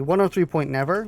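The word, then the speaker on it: Oneohtrix Point Never: in a specific way i think it's 103 103 point never but it's spelt like a neo tricks and that one track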